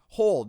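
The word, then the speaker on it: HODL: it so number one hold except it's spelled differently h.o.t l holding on to a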